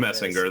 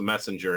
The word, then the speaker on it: Messinger: G would be messenger they say it's not a hard G that's something like that it's Messinger it's Messinger okay yes because messenger was